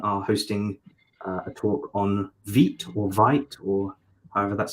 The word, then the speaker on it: Vite: hosting a talk on Vite or Vite or however that's supposed to be pronounced. I know this is French, so you're supposed to say Vite.